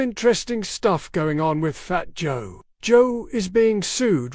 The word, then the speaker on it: Fat Joe: Uh, but yeah, fat hoe. Fat Joe.